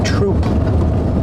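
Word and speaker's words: Throop: Got to take 347 Dunore Troop. I know it looks like it says through like through, but it's troop.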